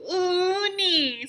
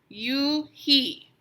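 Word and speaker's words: Unhei: scrunching up her face uni some kids chanted no no oh he corrected she corrected it's spelled u n h e i it's pronounced you he oh it's you hey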